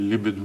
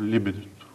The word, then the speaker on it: либидо: м това което наричаме либидо на латински мисля че ударението е на първата сричка но освен това има